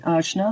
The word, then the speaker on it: Ajna: are not familiar with the ashna that's spelled ajna this is the directing